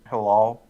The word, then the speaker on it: Hilal: In I have no idea how to say your name, but it's spelled Halal. HILALWRYA2. And how do you say it? Halal.